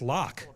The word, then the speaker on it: Lark: It's pronounced lark, like Phil Lark, not lacquer. It's not lacquer.